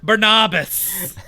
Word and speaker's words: Barnabas: I like Barnabas.